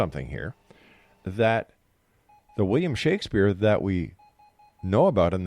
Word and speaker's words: Shakespeare: Actually, the name was pronounced, if you look in the documents of the period, the name was pronounced Shakespeare with a short A.